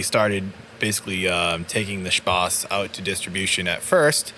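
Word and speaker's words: Spaß: it's spa and then the german s set which looks like a b but it it's really pronounced as a double s of course it is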